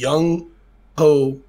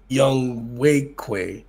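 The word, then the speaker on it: Younghoe: for atlanta is is young ho but they pronounce it young way the ho is like a way i don't know how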